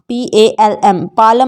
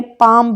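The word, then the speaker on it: palm: रहता है जैसे पैम पालम नहीं पड़ते पालम नहीं पढ़ते पैम पढ़ते हैं हम इसको हथेली है जिसका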